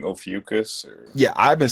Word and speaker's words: Ophiuchus: Of course, a constellation like Ophiuchus is going to come up.